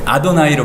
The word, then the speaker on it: אדוני: 뭐 다른 거보다 여기 보시면 우리가 보통 그냥 일반적으로는 여호와라고 부르는 거를 아도나이로 발음한다는 거.